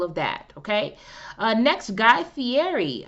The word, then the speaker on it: Guy Fieri: that okay uh next guy fieri i believe that's how you pronounce his last name has a new deal